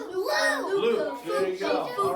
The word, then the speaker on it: Luke: It rhymes with Duke. Luke.